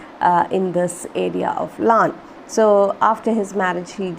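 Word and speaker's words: Laugharne: very famous picturesque seaside town of llan it's pronounced lan this though the spelling is this it is pronounced lan is a place in wales okay sounds of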